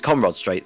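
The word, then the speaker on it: Conrod Straight: On the Conrad Straight, or Conrad Straight, if I pronounce that correctly. I get confused between the pair of them. It's Conrad Straight that I was right first time.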